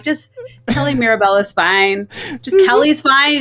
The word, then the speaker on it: Mirabella: It's just Mirabella.